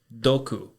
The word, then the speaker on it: doku: And poison is doku. Doku is spelt D-O-K-U.